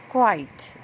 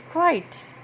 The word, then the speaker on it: quite: I have here is quite quiet quite see how it's different from quiet this is quiet and this is quite means very this is an emphasizing word which also rhymes with bright side sprite now coming to the